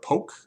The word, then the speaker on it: poke: So this is Chiari Sushi or something, which is kind of like poke, where it's just, or poke, I guess it's actually pronounced, where it's just a bunch of rice